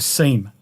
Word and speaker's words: SIEM: For security, as I mentioned, you can use Azure Sentinel, which is a security incident and event management solution, or a SIEM, or a SIM, depending on how you say it.